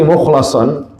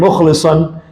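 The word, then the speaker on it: مخلصا: Bisa juga sebagian ahli tafsir membacanya mukhlisan, yang ikhlas. Jadi dua-duanya benar. Terkadang dibaca mukhlasan, dia yang dipilih oleh Allah. Terkadang dibaca apa? Mukhlisan. Ya, kalau mukhlisan orang yang ikhlas, kalau mukhlasan orang yang dipilih.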